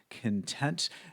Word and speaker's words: content: Pay attention to the pronunciation of this word, content, because it could also be a noun, and we would pronounce this word content, which has a completely different meaning.